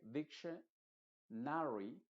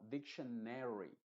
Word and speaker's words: dictionary: Cuando una palabra termina en ari, esa A por lo general se va a pronunciar como una E modificada. Por ejemplo, la palabra diction no se va a decir dictionary, sino dictionary, necessary.